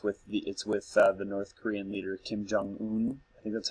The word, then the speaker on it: Kim Jong-un: it's with its with the North Korean leader Kim jong-un that's how you say his name and Seth